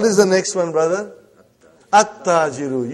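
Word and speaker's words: التاجرُ: At-Tajiru. You did not pronounce Lam. Why you did not pronounce? Because it is sun letter.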